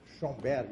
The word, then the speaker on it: Schoenberg: Se escreve assim, ó. Schoenberg, eu não sei.